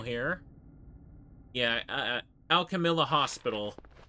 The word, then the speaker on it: Alchemilla: Yeah, I I I Alchemilla Hospital. I used to have so much trouble just pronouncing the name of it. Be like Al Alchemilla And it's like no, it's just Alchemilla.